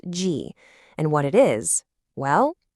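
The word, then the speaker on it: 戈: The component on the right side is actually its own character, pronounced G.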